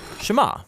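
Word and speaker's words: שְׁמַע: Now, the first word of the Shema is hear or listen, which in Hebrew is pronounced Shema. That's where the prayer gets its name. Now, Shema is a really common word in the Hebrew Bible, and it's obvious why.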